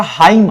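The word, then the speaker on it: hymn: Similarly आपका हाइम आता है, हाइम, इसको हम क्या कहते हैं, भजन गीत, यहां पे भी एन क्या होता है, साइलेंट होता है।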